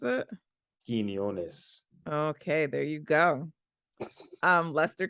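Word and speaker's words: Quiñones: Do you know how to pronounce it? Quinones.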